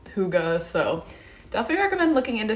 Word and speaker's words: Hygge: This is the little book of, it's pronounced Hygge, I believe. I googled it because I was saying it so incorrectly. It's Hygge.